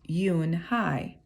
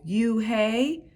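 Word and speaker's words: Unhei: chanted no no replied it's spelled u-n-h-e-i it's pronounced yun hi oh you hey the boy asked like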